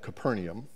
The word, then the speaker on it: Capernaum: Mark chapter 9 says, after they arrived at Capernaum, and Dot tells me that's how it's pronounced, even though there's not an I in the word.